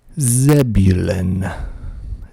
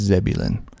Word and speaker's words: Zebulon: in Georgia called Texas zebulin Zebulon zebulin Zebulon Zebulon zebulin I think it's just zebulin Z Buu l o